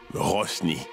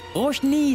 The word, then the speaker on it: Roshni: Elle ne s'appelle pas Rosny. Roshni, ça ne va pas bien dans votre tête. Écoute, ça va très bien dans ma tête. De quoi est-ce que tu parles? Je le prononce très bien. Rosny, Rosny. Rosny, non. Roshni. Ce n'est pas compliqué.